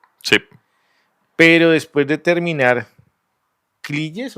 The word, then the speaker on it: Cligès: Bueno, no, yo creo que en español lo van a pronunciar Cliges, ¿cierto? pero la pronunciación francesa es Cliges.